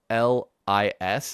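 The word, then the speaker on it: Bolis: I found these little Mexican ice creams called, I think it's pronounced Boli. It's Bollis, and it's like coconut cream frozen in this little like pouch.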